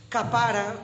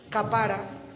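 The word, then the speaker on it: kaparah: Hay una palabra que significa, que se escribe con K, capara, que termina con tilde en la capara. Es una palabra hebrea.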